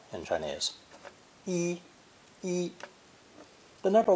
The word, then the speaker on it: 一: In each of these phrases, the number 1 is pronounced with the fourth tone, yi.